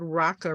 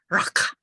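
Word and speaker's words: raca: insult the word raqqa if you pronounce the word raqqa right you have to kind of spit from the back of your throat so it's rock it's it's a it's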